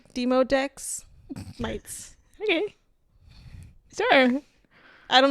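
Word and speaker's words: Demodex: These are microscopic mites called dermoteex mites. They're very common. That's all they're saying. I have a feeling that's not how it's pronounced. Says der demo. Oh, it's not dermmo. There's no r deotech. Demodeex mics.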